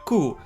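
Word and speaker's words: 九: And sometimes the rooms 409 because the number 9 is read like 'ku' like 'ku' in a hieroglyph 'kurushii' meaning 'painful'.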